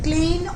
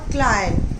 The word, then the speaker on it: Klein: And the pronunciation is Klein or Klein. You can call it both, right?